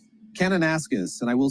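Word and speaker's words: Kananaskis: David, what's a proper pronunciation there? Canonis.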